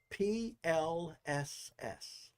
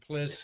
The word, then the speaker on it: PLSS: for you what's that P LSS personal life support system PL LSS how do you how do they pronounce that please they say plss and Kennedy and piss and in Johnson Space Center but Mar Marty's nodding